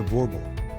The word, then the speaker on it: Boerboel: The boerboel, pronounced boerboel, is Africa's big lion dog, bred to protect South African homesteads from wild and ferocious predators.